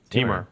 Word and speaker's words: Temur: Temur, yep. Temur. Like a femur, but with a T.